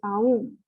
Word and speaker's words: Om: So if you want to pronounce it correctly, it is Aum, but we say Om.